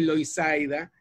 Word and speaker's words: Loisaida: Luego está el Lower East Side, que mucha gente, no sé, yo tardé en darme cuenta que Loisaida es precisamente la pronunciación latina de Lower East Side, que también ha sido